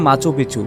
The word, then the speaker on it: Machu Picchu: bell আইকনটি click করুন স্পেনিয়া উচ্চারণের শহরটির নাম মাছপিছু যার অর্থ পুরানো চুরা